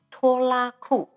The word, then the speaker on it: Tolaku: is the holy song organized the been named taller kou actually is Taiwanese pronunciation the meaning is Chuck and it also